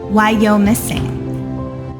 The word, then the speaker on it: Wyomissing: left me comments letting me know how to pronounce it and it's worse than I ever imagined why you're missing and I just keep thinking to myself and